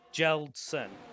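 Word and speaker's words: Kjeldsen: It's Jeldsen. So you just say it without the K.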